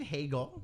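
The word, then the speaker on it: Hagel: um so Brandon Hegel Brandon Hegel because it rhymes with bagel oh yeah and he's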